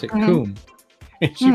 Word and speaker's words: KUM: It's like, no, it's not cum as UM. It's KUM pronounced coom.